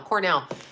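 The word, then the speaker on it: Quesnel: you're in bc there is it cornell bc i never say it right i think it's cornell i'm not from bc i'm from toronto but john knows how to say that it's q-u-e-s-n-e-l cornell i believe so we need to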